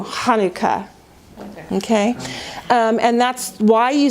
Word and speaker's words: Chanukah: we say challah Chanukah you don't know know it's Chanukah and actually the accident would be on the the new Chanukah okay and that's why